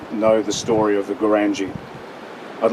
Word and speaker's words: Goorangai: crowd that really knows the story of the Gurangai, and as I was corrected this morning, I was not to call it the Goorangai. It's spelt like Gundagai, but anyway.